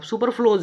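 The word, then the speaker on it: superfluous: यहाँ देखिए आप सुपर फ्लोज है एंड सुपर फ्लोज है।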